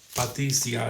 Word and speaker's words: Patricia: And look at the cover one more time by Patricia or Patricia. Patricia is how it would really be pronounced if it's Italian. Polacco.